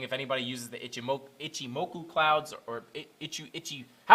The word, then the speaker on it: Ichimoku: similar to like an ikimochi cloud ichimoku cloud uh i would say ikimotu ichimoku i think is how you say it but uh obviously you're